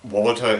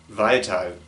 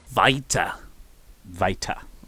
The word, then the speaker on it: Walter: mayor of Painesville, and you asked how to pronounce Walter correctly. I think for you guys, for an international audience, Walter is perfectly fine to say, but if you want to do it right, it's Walter. Walter.